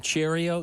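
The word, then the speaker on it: Chourio: Um we uh how what do you pronounce his name? Cheerio.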